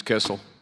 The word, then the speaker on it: Kissel: All right, Ms. Kissel. That rhymes with missile.